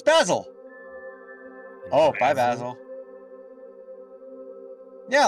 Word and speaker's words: Basil: In the U.S., the word Jesus Christ is pronounced Basil, but in England, it's pronounced Basil, like, because it's wrong. But like, for the leaf, it's Basil.